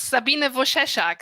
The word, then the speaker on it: Sabine Wojcieszak: please thanks for us it's sabine vosheshak so it's easier to pronounce if you do not read it just have it in mind okay okay i can